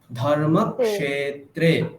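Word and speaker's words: धर्मक्षेत्रे: ক্ষে যেটা, তো সেখানে আপনি ক এবং দন্তের স বলে দিচ্ছেন, সে বলে দিচ্ছেন, তো সেটা ভুল। আচ্ছা, তাহলে কি বলতে হবে? হ্যাঁ, ক্ষে, ধর্মক্ষেত্রে।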